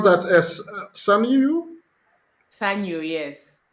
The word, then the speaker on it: Sanyu: How do you pronounce that? As Sanyu? Sanyu, yes. Sanyu.